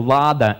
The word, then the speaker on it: lada: The word lady in the English language comes from the Indo-European word leda, or lada, as we pronounce it in the Russian language today.